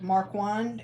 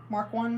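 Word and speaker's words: Marquand: little bitty town uh called mark wand it was it's spelled m-a-r-q-u-a-n-d mark one missouri and so and then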